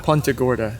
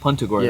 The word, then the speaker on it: Punta Gorda: Punta Gorda. Punta Gorda. Yeah, be a local. You gotta pronounce it right.